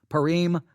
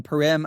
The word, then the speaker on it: Purim: Esther Esther and Mordecai Purim I think is how you pronounce that P you are I am a Purim I think is how you say it if I'm mispronouncing that